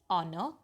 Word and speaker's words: honor: What you have to do in that, the h is silent in words like are, honest, okay, honor.